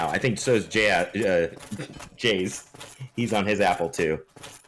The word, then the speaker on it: Jaze: Maybe Jaze, do you know?